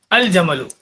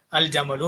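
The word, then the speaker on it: الجمل: பார்த்து ஜமலுன்னா ஒட்டகம் இல்லையா, அல் ஜமலு. அப்ப இருக்கிறத அப்படியே படிச்சிடணும், ஒன்றும் அங்க வந்து மாற்றமே இல்லை. அல் அபுலையும் சரி அல் பாபுலையும் சரி அலிஃப் லாம் போடுறதுனால வந்து எந்த ஒரு மாறுதலும் இங்க இல்லை. அல் ஜமலு அப்படி படிச்சிட்டோம்.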